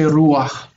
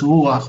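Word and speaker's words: רוּחַ: That little sound there is not a full vowel. It's called a furtive patach or patach gnuva. It's not a full vowel. It's only there to help us pronounce it. So it would in Arabic be ruh, but we say ruach. That goes before the chet and it's ruach, one syllable, monosyllabic.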